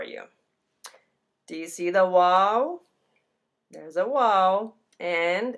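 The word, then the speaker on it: واو: this is our w it's pronounced wow like wow wow so whoa is a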